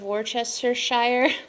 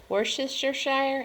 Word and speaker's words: Worcestershire: have two teaspoons of worchestershire worcestershire i think i said it right the first time but i've heard people say that all kinds of different ways um i also have